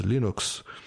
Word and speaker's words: Linux: is Linux Torvalds and the proper pronunciation of Linux is Linux."